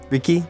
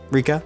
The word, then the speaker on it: Rika: Hey, how do you say her name? I say it right? Riki? Rika. Rika?